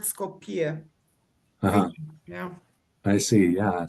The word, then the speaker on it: Skopje: I did practice pronouncing it properly because it's not Skopje, is it? It's It comes from the Greek word Skopje.